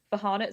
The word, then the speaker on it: Farhana: I'm really sorry but my name's actually pronounced for haret so it would be